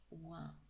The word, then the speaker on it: 和: We'll come back to that in a moment, but for now let's have a look at the character that is pronounced wa.